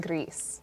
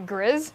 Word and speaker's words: Gris: Oh, Jersey Cat says Spanish, pronounce it like Greece.